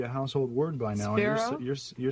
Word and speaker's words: Spiro: Spiro.